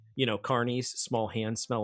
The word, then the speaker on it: Kearney: Carney, sorry, it's spelled Kearney, but you said it's Carney. It's and it's unfortunate. Listen, I apologize. I apologize profusely. It's Carney.